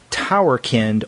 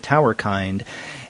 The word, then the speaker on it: Towerkind: this is cat verhoven's towerkinned or Tower kind now when I was speaking with Andy Brown earlier he pronounced it Tower kind and as he mentioned it's like humankind Tower kind I thought and I